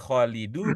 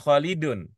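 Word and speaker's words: خالدُ: sehingga Ibu eh sehingga bapak macanya kholidu bukan kholidun kholidu nama nama orang Arab jadi kita pernah ya Kita pernah punya ilmu begitu ya kalau nama orang dibacanya u bukan UN Kita pernah begitu ya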